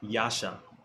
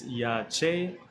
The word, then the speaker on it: Yache: Yasha. Yasha. In the Americanish Hebrews, they say Yasha. Right. Right. Why is it Yache and not Yasha? It's Yache because the true Hebrew dialect.